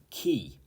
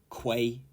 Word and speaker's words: quay: did happen earlier by the way 29 is key key not Quay key and this is a platform for loading